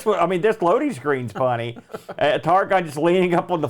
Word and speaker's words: Targhan: Now that's spelled with a Han, as in Targhan, Targon.